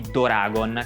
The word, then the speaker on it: Doragon: Tora significa tigre, mentre Dora è un'abbreviazione di Doragon, che è come i giapponesi pronunciano dragon.